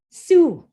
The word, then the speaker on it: Sault: toronto toronto to saint-marie this is how we pronounce our name su it's a french word which means jump or rapids but don't worry we